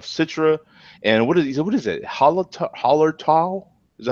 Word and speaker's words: Hallertau: Hallertau? Is that how you say it? Blanc? Hallertau, yeah.